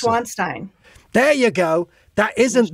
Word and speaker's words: Neuschwanstein: I say Neuschwanstein, but I think that's the wrong way to pronounce it. Neuschwanstein.